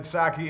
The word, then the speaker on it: Psaki: China said Psaki is a dumb name. Why even keep the P if you're not going to pronounce it?